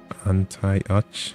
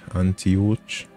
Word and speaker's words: Antioch: think I'm butchering that name how do you pronounce it anti-ach Antioch and touch St Margaret police Center the parking